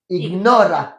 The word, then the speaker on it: ignora: Attention, en espagnol, il faut prononcer toutes les lettres. Ignora.